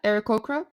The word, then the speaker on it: Aarakocra: God, I can never remember how to pronounce them properly, but bird people, like eagles. Aarakocra, Kenku. Thank you. Yeah, Aarakocra.